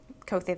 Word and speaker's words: Koethi: Your name, and you like it pronounced Koethi? Koethi, that's right.